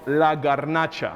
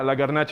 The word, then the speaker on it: La Garnacha: I want to make sure I get the pronunciation. It's called La Garnacha. La Garnacha. Yeah, La Garnacha.